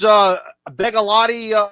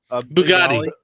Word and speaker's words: Bugatti: I was going to get you one of those Begalotti, not Begalotti. Is that how you pronounce it? Morse code keys? No, Bugatti.